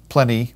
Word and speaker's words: Pliny: writers including phallus uh pliny the younger or plenty if you prefer that pronunciation also suetonius and others